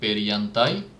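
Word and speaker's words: perjantai: ফ্রাইডেকে বলে পেরিয়ান্তাই। এটার জের উচ্চারণটা ইয়ের মতো। যারা প্রনাউন্সিয়েশনের জন্য আমার আরেকটা ভিডিও আছে, সো ওইটা দেখলে প্রনাউন্সিয়েশনগুলো ক্লিয়ার হয়ে যাবে যে পেরিয়ান্তাই, এটা পেরিয়ান্তাই কেন, জানতাই না কেন।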